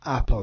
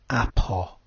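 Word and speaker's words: ἀπό: And by the way, do remember that we pronounce the omicron with a hard O at the end of apo.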